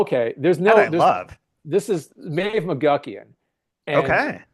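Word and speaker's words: Medbh: There's no This is Mave McGuckian. And okay, Mave spelled me DBH, so you have to like pronounce it like, you know, this is written in the Irish.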